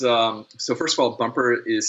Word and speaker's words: Bumpr: it yes it's um so first of all bumper is spelled without the e it's b-u-m-p-r and the